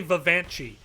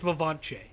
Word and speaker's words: Vivanche: I keep wanting to say Vivanchi, and I think it's Vivanche. It's the emphasis is on the second syllable.